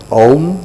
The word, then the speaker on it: Om: It says, Om, which is divided into 3 syllables of A, U and Im.